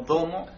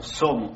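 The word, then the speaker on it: zomo: Que a veces la D funciona como domo. Lo escuchan como domo a veces, pero normalmente se pronuncia como somo.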